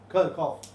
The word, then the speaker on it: Kirchhoff: let me assure you, he was an Austrian, Gustav Kirchhoff, so his name is Kirchhoff. तो ख यहाँ से निकलता है, so you'll pronounce him as Kirchhoff.